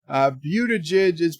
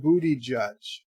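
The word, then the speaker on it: Buttigieg: sorry sorry to say beauty jizz pronounced booty judge miss Thank You miss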